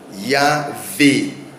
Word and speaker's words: Yahweh: Donc nous avons à ce moment-là le nom Yahweh selon l'interprétation des lettres. Donc ça, ce sont les lettres qui sont interprétées. Yod et Waw e, Yod Waw e, Yahweh ou Yahweh, Yahweh, Yahvé ou Yahweh.